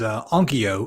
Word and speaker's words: Onkyo: Another one that I've noticed is Onkyo. I don't know if I'm pronouncing it right.